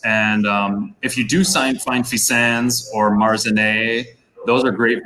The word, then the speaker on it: Fixin: And you can see I went with Fixin today on my handle because although it's not pronounced that way, it's Fissan. It's not fixing? No.